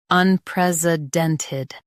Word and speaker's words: unprecedented: un pres i den ted unprecedented un pres i den ted unprecedented In US, stress pres. In UK, pres is softer.